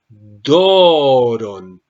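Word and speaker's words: δῶρον: doron Don ofrenda pero la Omega va a recibir un un sonido especial así doron doron una elevación y un abajamiento doron elevación y abajamiento voy a repetir e cómo viene pronunciada primero eh lo que voy a hacer es e subir la voz do rón do y después bajo rón doron doron y durante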